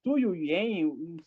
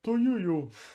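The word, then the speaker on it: Tu Youyou: Tu Yuyen, vou saber pronunciar o nome dela agora. Tuyuyu.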